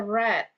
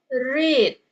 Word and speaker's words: read: eh kata read ini, read ini dibaca sebagai red, sebagai past participle. Oke. Bila tidak ada kata red, eh sorry tidak ada kata have or has or had, then bacanya itu read. Especially when there is a to.